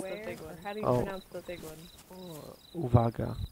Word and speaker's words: Uwaga: Zuwaga beware? Or how do you pronounce the big one? How do you pronounce the big one? Oh, Uvaga. Uvaga.